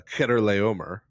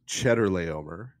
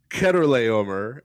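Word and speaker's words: Chedorlaomer: is uh this fellow uh Keter Le uh sometimes pronounced Cheddar Le uh by kids in Sunday school uh and then leading to cheese jokes. Uh but uh Keter Le uh who is labeled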